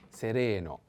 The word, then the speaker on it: sereno: cello sereno and sereno i have to put the accent on the second e sereno sereno means clear serene so